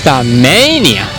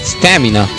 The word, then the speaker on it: Stamania: Quick Conatrix Stamania, not Stamina. I made a bit of a mistake here.